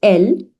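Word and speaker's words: elles: Now, same way, elle, that stands for they, which is feminine plural, and S is not pronounced. So it's elle.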